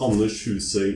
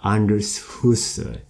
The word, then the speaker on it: Anders Husøy: It's pronounced Anders Husøy in Norwegian. I know it's very difficult. Say it again. I try to go it. Anders Husøy. Anders Husøy.